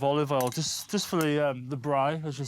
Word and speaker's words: braai: little bit of olive oil, just for the braai, as you say. Yeah, yeah. Nice. And, good pronunciation there.